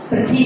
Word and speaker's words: पृथ्वी: पृथ्वी व्याम, हा का उच्चारण यहाँ ना हुआ का आना है, किसका आना है? हुआ शब्द का। पृथ्वी, पृथ्वी बोलेंगे, पृथ्वी व्याम, ध्यान देंगे।